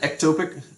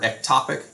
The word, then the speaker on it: ectopic: microscope some other things an ectopic or ectopic pregnancy i've heard pronounced both ways is when the blastocyst